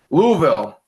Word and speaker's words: Louisville: be nice we have to the ACC conference Louisville and Cameron even I said it right Louisville